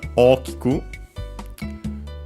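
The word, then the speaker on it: ōkiku: Then we have okiku, from the adjective oki, the accent usually is on the second more, so on the key, second to last more. Technically, you could say also syllable. In this case, it isn't counted key as a single syllable. Yeah. Either way, it's on the key, the accent, when in its dictionary form, or key means big,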